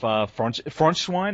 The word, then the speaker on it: Frontschwein: Well, we're going to go the track Europa Progret off Frontschwein. Is that how you pronounce it? That's correct.